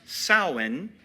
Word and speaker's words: Samhain: It's pronounced Samhain because in Irish, MH is a W sound.